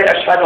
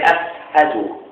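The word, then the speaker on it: أشهد: Bilal would not say, "Ashhadu an la ilaha illallah." He would say, "Ashhadu." His sheen, okay, was a seen.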